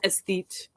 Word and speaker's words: esthete: paper pardon me esthete figured out how to pronounce it yesterday's beautiful word was esteet and it means a